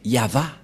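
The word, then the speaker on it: יהוה: Et la prononciation de ceci, c'est Yava.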